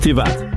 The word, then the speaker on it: Tivat: Yeah, I didn't know that it's actually pronounced Tivat.